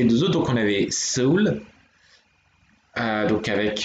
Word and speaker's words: Seoul: Et donc du coup, bah, dans les deux autres, donc on avait Seoul, donc avec la première syllabe qui est se et la deuxième qui est ul, enfin ul plutôt, qui est la ville de Séoul.